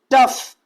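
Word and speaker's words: tough: इसके बाद टफ। तो यहां पर जो हमारा ओ और यू एक साथ आ रहा है तो यहां पर भी हमारा ओ क्या हो जाएगा, साइलेंट हो जाएगा।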